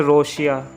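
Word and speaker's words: ロシア: इसके बाद आता है गाइस रशिया। रशिया को बोला जाता है जापानीज़ भाषा में रोशिया।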